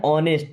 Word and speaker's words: ऑनेस्ट: इज वह है एन ऑनेस्ट देखिए यहां पे एच साइलेंट होता है ना ऑनेस्ट का मतलब ईमानदार